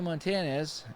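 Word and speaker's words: Montañez: he makes a nice catch one away willie Montanez that's how you say his name I'm not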